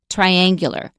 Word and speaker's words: triangular: We don't stress the second syllable, we stress the first syllable. Triangle, triangular.